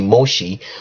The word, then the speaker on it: Moshe: And when Moses came down, or the right pronunciation would be Moshe, when Moshe came down